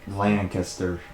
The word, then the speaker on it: Lancaster: or Lancaster Lancaster oh I do it LAN Langley Lankester like you don't have to put much of an emphasis on the cat basically hmm for lack